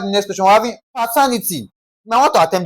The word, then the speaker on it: paternity: Now, according to the rule, ty is the first syllable from the last. Ni second syllable from the last, and then what now? Ter third syllable from the last, that's what now? Pa-ter-ni-ty. So, I'm going to stress ter.